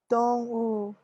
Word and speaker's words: 动物: 动物 Dongwu.